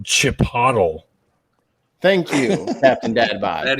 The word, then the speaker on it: Chipotle: pronounced Chipotle.